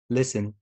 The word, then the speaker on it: listen: طيب حرف T لو جه في المقطع S-T-E-N في نهاية الكلمة لقيت المقطع ده S-T-E-N نفس الكلام silent letter like listen fasten christen glisten okay.